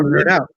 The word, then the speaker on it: Knerdout: And then Brian was the one that came up with the he's like, what if we put a silent K in front of it?